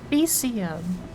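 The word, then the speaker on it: faecium: Yeah, okay, calling that fakum is a complete mispronunciation because it's feces, fecium. That makes way more sense phonetically now.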